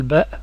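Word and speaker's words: باء: la prononciation des lettres l ba on dit pas B el ba donc le B se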